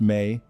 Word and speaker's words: me: The mi pronounced may appear throughout Sumerian religious literature from the earliest text to the latest.